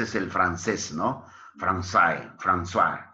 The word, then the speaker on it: François: ¿Esa C que está en francés se pronuncia como algo así como una S? Exacto, ese es el francés, ¿no? Francais, François, François, François, exacto.